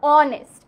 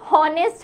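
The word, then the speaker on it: honest: হ উচ্চারণটা হয় না same গোস ফর অনেস্ট অনেস্ট এর ক্ষেত্রেও কিন্তু হ উচ্চারণ হয় না হ উচ্চারণ হলে সেটা কিন্তু হনেস্ট হতো হনেস্ট না হওয়ার কারণে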